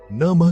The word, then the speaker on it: नमः: नमः का उच्चारण नमः की तरह किया जाता है, जिसमें मह साउंड को हल्के से नाक से बाहर निकाला जाता है।